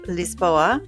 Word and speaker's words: Lisboa: Whether you love the energy of Lisbon, or as the locals say, Lispoa, the charm of Porto, or the relaxed vibes of the Algarva, there's a perfect spot for everyone.